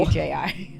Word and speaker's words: Fuji: F-U-J-I. Oh.